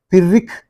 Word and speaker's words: Pyrrhic: And here, Pyrrhic, H is silent, Pyrrhic foot.